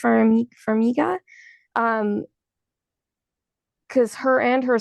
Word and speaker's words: Farmiga: I can't Farmiga, remember. Farmiga.